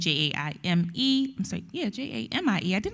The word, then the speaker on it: Jaime: You can listen to the cast, or you can follow me on Instagram under Jamie, Jaime. I'm sorry, yeah, Jaime. I did not spell my name wrong.